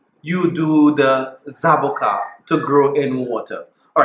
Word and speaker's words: zaboca: that I got this zaboka to grow yes zaboka we in the Caribbean call this a zaboka not avocado no zaboka all right the original amaran name that we inherited it's called zaboka I'll spell it out